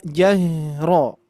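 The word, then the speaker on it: الجهر: Ingat huruf ro tebal. Ro ro ro. Ah kira-kira di sini bibirnya memonyokkan tidak? Ro ro enggak ya?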